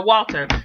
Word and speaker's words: Walter: Like, it had got to that point, and I was just like, thank you, Damian Waters. Did I say his name right? I think I said it wrong. Yeah, no, Walter.